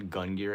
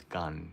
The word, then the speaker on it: GUNGIRE: g n it's not gungir it's gun because that's how you pronounce it in Japanese so gang had their